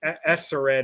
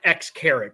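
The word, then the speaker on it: Xcaret: And I want to say Esseret, or I mean, it looks like X-Carat, but I know that's not how you pronounce it.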